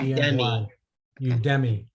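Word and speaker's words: Udemy: with different terms and it's spelled u-d-e-m-i is that right u-d-e-m-y why you demi okay yes you do and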